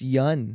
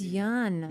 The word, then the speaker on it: Yeun: You guys keep pronouncing my last name wrong. You Yes. motherfuckers. Yes. we have you too. It's yeah. It's Yeun. It's Yeun.